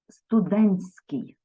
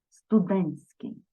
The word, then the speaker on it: студентський: зміни буде відбуватися спрощення оцей Т що посередині буде випадати і ми у вимові чуємо студентський студентський далі збірний іменник від слова